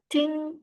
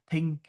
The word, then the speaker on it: think: Because um yeah, I don't think this sound exists in Vietnamese, right? So usually I'll hear students saying ping, right? or ting. All right, but it should be think with your tongue out, right?